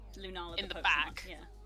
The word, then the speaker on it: Lunala: I keep going to say Runara because my brain is mush. Lunala is how you say that. Lunala in the Pokemon, back.